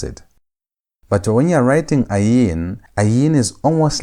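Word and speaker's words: עין: Ayin is silent, meaning that it has no sound of its own.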